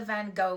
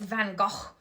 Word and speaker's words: Van Gogh: I went to the Van Gogh Museum. I said it wrong. It's Van Gogh. Like, I have to say it right.